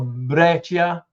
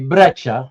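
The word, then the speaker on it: Breccia: legendary Italian artist Alberto Breaia. Uh actually Brecha, you don't pronounce the I from 1971.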